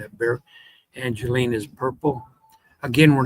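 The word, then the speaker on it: Bexar: Behar, someone told me it's pronounced bear, so I'm going to work on pronouncing that bear.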